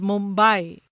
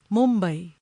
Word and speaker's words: Mumbai: International television channels refer to the city as Mumbai, when it should be pronounced in its authentic Marathi way, Mumbai.